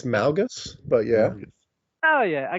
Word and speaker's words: Malgus: kind of think it's Malgus but yeah oh yeah I guess there mgus Malgus whatever it is I pronounce it like yeah I pronounce it with like that low a so Ma malas so